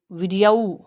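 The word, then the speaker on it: video: ये जल्दी से बोलेंगे. वीडियाऊ या वीडियो. Americans वीडियो. आपको पता ही है, ब्रिटिशर्स औ बोलते हैं और अमेरिकन्स औ बोलते हैं.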